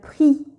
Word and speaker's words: prix: Et parfois, en fin de mot, X s'écrit mais ne se prononce pas. On dit que X est muet. Exemple, une noix. 2. Le prix.